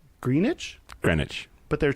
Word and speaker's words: Greenwich: Greenwich. But it has 2 E's. Greenwich. The W is silent. Greenwich? Greenwich.